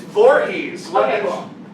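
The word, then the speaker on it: Voorhees: only take one more question how do you pronounce Jason's last name it's Vorhees yeah okay I can see okay it's D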